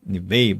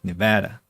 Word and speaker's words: Nevada: Not Neve, but Nevada. Just we say Nevada in Russian.